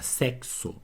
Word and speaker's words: sexo: nós acabamos de ver na palavra sexo esse X tem som de cs Então eu tenho quatro letras aqui ó mas eu tenho cinco sons 5 fonemas porque esse X tem dois sons na palavra táxi o